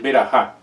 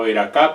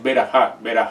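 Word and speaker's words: ברכה: en hebreo, que es berajá. Otros la pronuncian como veracá, pero la pronunciación está incorrecta porque es berajá, baruch, no baruch, sino baruch.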